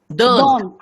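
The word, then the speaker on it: dont: Dant.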